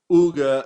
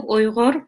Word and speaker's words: Uyghur: I'm Uyghur myself. A lot of people cannot even spell or pronounce the name because it's very much Arabic sound, Uyghur.